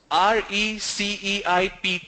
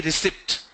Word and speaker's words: receipt: Likewise, receipt, R-E-C-E-I-P-T, it's not receipt. Don't say receipt, it's receipt. P is silent.